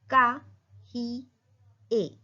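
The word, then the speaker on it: cahier: Copy को बोलेंगे का ही ए. ईयर का साउंड है ए. काहिए. A wall.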